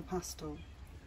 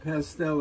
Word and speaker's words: pastel: The back of the neck with one confident mark of the pastel. We call it pastel and you call it pastel, so we put the emphasis on the second syllable.